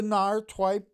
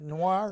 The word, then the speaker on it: noir: It was a NAR twe. How do you say it? Noir.